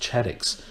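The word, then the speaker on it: CHADx: The classification of hospital-acquired diagnoses, and it's pronounced CHADICs, requires hospitals to identify, count and monitor adverse events that occur in hospital to support safety improvement efforts.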